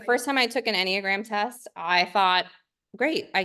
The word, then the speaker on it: Enneagram: Oh yeah, Enneagram.